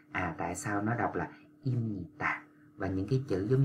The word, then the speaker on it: 입니다: bạn phải đọc là imnita, imnita. Như vậy là do là chữ b nó gặp chữ n, cho nên nó biến thành chữ m.